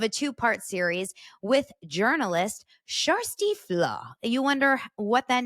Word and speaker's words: Kjersti Flaa: second part of a two-part series with journalist sh FLW you wonder what that name is yes I